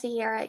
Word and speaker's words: Sierra: Is my name pronounced Sierra? Yes, it is.